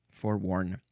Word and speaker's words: forworn: Uh, but this is spelled W N. So it would be F O R E. Wo R N. It is an archaic version of forewarn without the E.